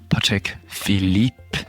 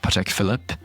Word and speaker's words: Patek Philippe: Mine are certainly not perfect, but it is good to at least try to pronounce them correctly. Patek Philippe, not Patek Philippe.